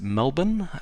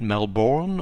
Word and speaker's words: Melbourne: Brisbane cultural sensitivity point you pronounce it Brisbane and you also pronounce it Melbourne uh not Melbourne or Brisbane uh you always kind